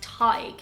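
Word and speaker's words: Tadhg: to give americans pause for thought on its pronunciation is this one and it is the name tag it means poet or philosopher so if you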